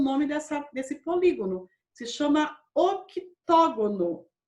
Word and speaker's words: octógono: Se chama octógono. O C é mudo.